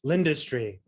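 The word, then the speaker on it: L'Industrie: Lindustry. It's called L' industry, but it's spelled IE at the end.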